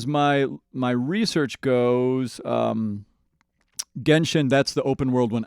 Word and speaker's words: Genshin: Genshin Impact. It's Gen, not Jen.